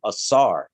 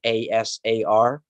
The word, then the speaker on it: Asar: term osiris comes from osiris comes from asar a-s-a-r a-sar it's the same thing